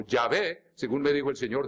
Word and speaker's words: Yahvé: Y no hay ningún mal en pronunciarlo tal como estaba en hebreo, como Yahvé, según me dijo el